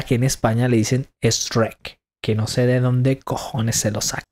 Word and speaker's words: Shrek: no puedo súper difícil pero es Shrek no es es Shrek no